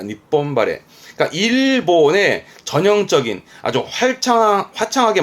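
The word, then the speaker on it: 日本晴れ: 발음은 니폰바레, 니폰바레. 하레루에 하레부터 바레입니다. 니폰바레.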